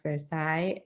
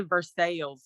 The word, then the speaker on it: Versailles: I studied French in high school, so the way people pronounce Versailles. Oh, what do they say in Kentucky? They say Versailles. It makes me crazy.